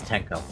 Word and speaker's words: Tenko: Okay, I was like, did they silence the K? Okay, it's Tenko.